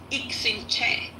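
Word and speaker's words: Iximché: But the way you pronounce them, so the first one is Ixinche. The second one is Ishmukane, and the third one is Xylofono.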